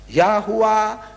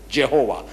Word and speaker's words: Yahuwah: in hebrew and arabic yahuwah means o he because the j is an invention of the western jehovah i said throw it